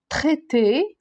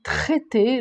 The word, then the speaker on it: traité: premier on a trouvé traité on dit pas trait on dit traité le T quand on a le T avec R le r on le prononce pas traité mais là non grand